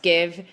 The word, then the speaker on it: GXVE: It's spelled GXVE, pronounced Give. It's Give with a kiss, and helped launch that brand, both D2C and omnichannel and Sephora.